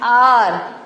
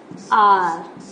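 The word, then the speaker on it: hour: See, though it is starting with H, but pronunciation an R. H-O-U-R. An R.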